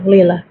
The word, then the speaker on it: Leela: And this is just the experience of Leela. Am I saying it correctly? Yeah, Leela.